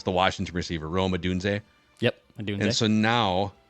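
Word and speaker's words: Rome Odunze: they take Roma is it how do you pronounce the Washington receiver Roma dun yep do and so now the Vikings are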